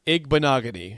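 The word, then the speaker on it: Igbinoghene: Pronounce that name again. No, I got it. It's Noah Igbenogany.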